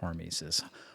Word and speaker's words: hormesis: And that brings us to topic number 4, which you want to pronounce that word for us? It's hormesis, right?